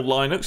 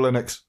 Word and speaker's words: Linux: happy common, Linux or Linux, however you want to pronounce it. Still Linux. No, it's Linux. The bloke who made it's called Linus. Yeah. So it's Linux.